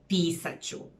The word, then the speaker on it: Pisat ću: If the infinitive comes before the auxiliary verb, then the infinitive loses the ending and becomes a little shorter and is pronounced the same as one word together with the auxiliary verb. Pisat ću, čitat ću, and so on.